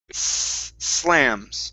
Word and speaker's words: slams: you say okay so you need to point your tongue downwards toward the bottom of your teeth because with the spanish from spain your tongue is pointed upwards okay put it down towards the bottom of your teeth and then you'll get slams okay so let's try